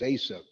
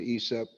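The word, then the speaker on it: Aesop: the value of isa a lot of us pronounce it as asap ace of fables there's esop fables and without further ado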